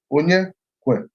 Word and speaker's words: Onyekwelu: My name is just 3 syllables. Onyekwelu.